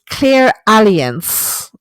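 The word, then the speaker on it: clairalience: written down here is clear alliance it's not aliens like the insurance company it's a l i e n c e maybe i'm mispronouncing it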